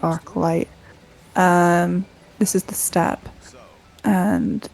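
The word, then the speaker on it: Archylte Steppe: I don't know, people always say it differently. It's spelled arcilt, but I always called it arc light.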